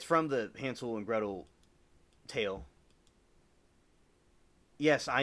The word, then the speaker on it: Hansel: all thought it was like Hansel, but it's actually uh, Hansel, like kind of like the with the more of a Z sounding to it than the S sound because the way the Germans pronounce it is different than the way we sound it.